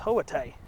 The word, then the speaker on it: Hoita: And it's not pronounced like it's not pronounced like it's spelled.